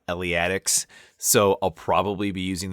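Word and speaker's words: Eleatics: in an Italian school, philosophical school, as the iliatics from Elia. Um well, not I guess entirely wrong. I believe the more common pronunciation is Elia Eliatics.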